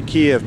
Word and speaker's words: Kiev: Well, they're made in Kiev, in the Ukraine, so you say Kiev prop.